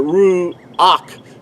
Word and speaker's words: Ruach: The word ruach in ancient Paleo Hebrew is spelled resh, u. See, that's the second letter. Ruach. See, the second letter cannot be spelled with a W sound nor a V sound.